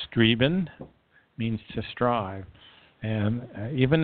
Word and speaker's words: streben: And the German word streben, pronounced streben, means to strive.